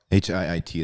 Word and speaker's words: HIIT: HIIT is how it's pronounced.